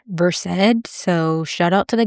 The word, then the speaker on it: Versed: Speaking of, I have recently learned that I've been mispronouncing versid. It's spelled vers, which is how I've been saying it, but it's pronounced versed.